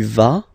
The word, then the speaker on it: vas: Basically, you pronounce it like for the tu, because you don't pronounce the final S, okay? Il va, elle va, okay? Je vais, tu vas, il va, elle va.